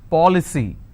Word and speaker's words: policy: C Y for example policy how many syllables three for Lee c now here the rule says I need to stress on the third from right which means I will stress on Paw I just bought an